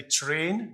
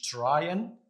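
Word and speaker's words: train: بيتنطق والتاني بيكون سايلنت فبالتالي ترين مش تراين وتيم وداي هنا الاي سايلنت في كلمه ترين لكن هنا الاي بقت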